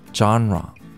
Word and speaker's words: genre: 제일 먼저 genre. 이게 사실 장르라는 단어가 되는데요. 이 단어의 발음을 어려워하시는 분들이 많습니다. 장라라고 생각하시면 되는데요. 여기서 라만 조금 약하게 말한다고 생각하시면 됩니다.